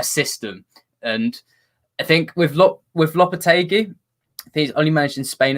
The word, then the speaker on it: Lopetegui: Do you feel with I want to say Denver, Lopetegui is how you pronounce it?